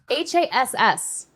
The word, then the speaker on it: Hass: How do you spell Haas avocados?